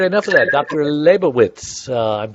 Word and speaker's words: Lebovitz: today diseases all right enough of that Dr labowitz I'm pronouncing your name right am I yes great